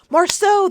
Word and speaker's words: Marceau: Marceau, thank you.